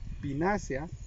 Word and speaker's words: Pinaceae: Pinácea, se escribe Pinaceae.